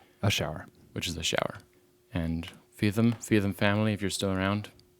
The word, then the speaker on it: Feetham: Until 1767, when William Feetham, remember that name, write that down, boys and girls. William Feetham. Thank you, William How do you spell it? William, Feetham.